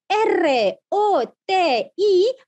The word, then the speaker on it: roti: Cher sino que cheer pero en malayo si deletre r o t i pronunciamos palabra por palabra roti igual igualito que español m e